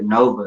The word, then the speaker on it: NXVX: But I also got my brother, my actual brother, Nova. And his name's spelled NXVX. I don't know if you've had him on the show yet. It's spelled how? NXVX. but it's Nova.